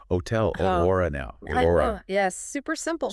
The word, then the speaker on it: hotel: trip up English speakers H is silent plain and simple so hotel hotel orora now yes super